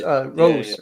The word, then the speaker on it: Rose: No, not Royce. Rose.